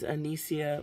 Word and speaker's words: Anicia: It's Anicia, like Alicia, but it's Anicia.